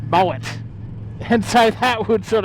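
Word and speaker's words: Moët: they change the name to Moe, but with a T on the end, you know, just like the champagne, right? And, you know, that was all good, except they finally realised that it's actually pronounced Moet.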